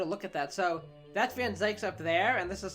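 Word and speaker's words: van Zieks: the reaper has been attacked that's that's Lloyd van zykes that's how you say his name that must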